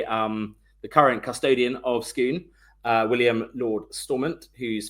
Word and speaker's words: Scone: place of Scottish kings and you nailed the pronunciation as well. Skoon not scone or scone skoon.